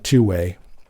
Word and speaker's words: 2wai: And for those listening, it's uh the company is 2WI uh pronounced uh two-way.